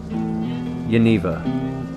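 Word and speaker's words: Janeva: pronounce it okay okay pronounce the J as a y okay like U yaneva is that right yeva yaneva I like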